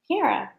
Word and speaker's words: Piera: Piera, right? That's how you say it.